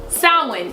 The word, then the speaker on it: Samhain: I was gonna pronounce it wrong, but I caught myself at the end. You got it right. I got it. So Samhain is coming. There's a couple of different pronunciations.